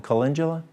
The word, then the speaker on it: calendula: Aloe vera, burdock root, cabbage, calendula. How would y'all pronounce that one? Calendula or calendula?